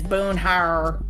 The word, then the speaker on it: Boomhauer: Yes, his real name is Boonhouse, and it's Boonhauer.